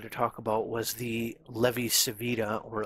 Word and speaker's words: Levi-Civita: talk about was the levy savita or levi chavita connection i've heard this pronounced both savita and javita in my head i usually just end up pronouncing it savita so that's probably how